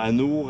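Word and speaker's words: anoures: Anours avec. Ça s'écrit A-N-O-U-R-E-S. Ah, Anour, oui. Anours. S'il y a un E, faut que tu prononces le R.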